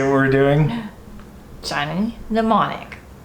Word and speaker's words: Mnemonic: say we're doing Johnny mnemonic the M is silent which one tell everyone